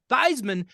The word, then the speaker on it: Theismann: school but in college he changed the pronunciation to Theisman because it rhymed with Heisman he never won the